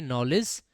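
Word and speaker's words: knowledge: है कि भैया हमारा नॉलेज में क्या साइलेंट रहता है बेटा के साइलेंट रहता है इसको क्या बोलेंगे नॉलेज और नॉलेज क्या होता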